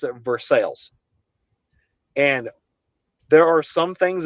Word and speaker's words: Versailles: It's not pronounced Versailles.